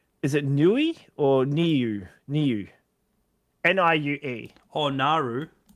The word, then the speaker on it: Niue: Pronounce. Here we go. Niue. New. It's Niue. Niue, Oh. yeah. Okay. It's Niue Island.